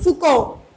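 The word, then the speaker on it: Foucault: Next one, Michael फुको। इसको क्या pronounce करेंगे? फुको।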